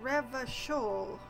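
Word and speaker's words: Revachol: another massive loading screen here we go it's pronounced rev shoal orange orana and it's pronounced classia i am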